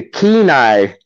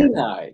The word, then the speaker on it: Kenai: So you pronounced it wrong. Yeah, so it's actually a Kenai king. Kenai king.